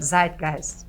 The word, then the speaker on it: Zeitgeist: Em alemão, como é que é a pronúncia? Zeitgeist.